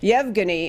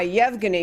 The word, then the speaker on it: Yevgeny: difficult name to pronounce I believe it is Yevgeny it's ye VG and why Yevgeny but these two identical